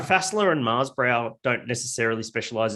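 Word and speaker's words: Faßler: There's my favorite one is Fassler, F-A, that S that looks like a B. Yeah. It's spelled like that, Fassler.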